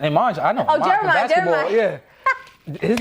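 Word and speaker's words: Jeremih: Oh, Jerimih.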